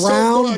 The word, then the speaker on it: Braun: Is it Brown? It's Brown, but it's spelled B-R-A-U-N.